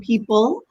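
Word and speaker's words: peepul: So the people tree, there's actually a tree in Asia it's spelled P-E-E-P-U-L, people.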